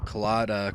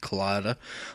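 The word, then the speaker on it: COLLADA: improved the way uh colada K kala colada however you want to pronounce it I pronounce it colada um so it's the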